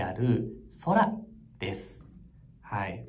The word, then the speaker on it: Sora: 生成 AI である空ですはい S と書いて空と呼びますこの空です